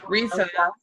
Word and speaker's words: Risa: So Risa, it's spelled like Lisa, but with an R. Risa, and the like the motorcycle, like you like to say.